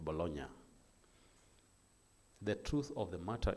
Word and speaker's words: Bologna: When they write it's Bologna, but I think they pronounce it Bologna.